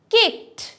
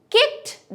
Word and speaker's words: kicked: Kicked. However, আমি লাথি মারছি, যেমন I kicked the ball. কি হচ্ছে? স্ট্রংলি একটা টি এর মতন উচ্চারণ আমরা পাচ্ছি না? So it's kicked, not kicked.